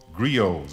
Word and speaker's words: griots: existence of very old men who are called griots it's spelled g-r-i-o-t-s as they describe them griot seemed